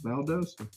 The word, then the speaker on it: Valdosta: is calling valdosta georgia it's valdosta anyway what are we doing valdosta we uh we went road some rides throw